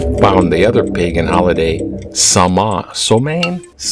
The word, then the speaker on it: Samhain: And then when they found the other pagan holiday, Samhain, that looks different how it's said, and the 31st, that in between the equinox and the solstice, is halfway point, Samhain.